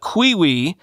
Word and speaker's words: Qiui: Quote, UK-based security firm Pentest Partners said the flaw in the Qiwi, that's spelled Q-I-U-I, cellmate internet-connected Chastity lock, billed as